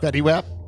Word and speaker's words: Fetty Wap: t-shirt black jeans a yellow hoodie and sneakers fetty WAP yeah yep says it in the book is